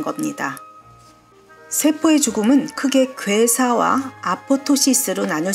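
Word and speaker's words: apoptosis: 그리스어로 세태 폴링이 뜻입니다 그리스에서는 두 번째 피가 묵음이 ap ptosis 쓰고 아포토시스 발음합니다이 용어는 영국 암 하지에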